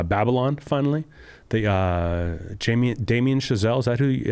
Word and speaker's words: Damien Chazelle: I watched uh Babylon finally the uh Jamie Damien chazelle is actually how you say his name the